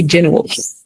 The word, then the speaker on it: general: and general, because I used to see generals. Like you can say general, there's nothing wrong with that. But again, like an American pronunciation, sometimes they swallow some of the syllables.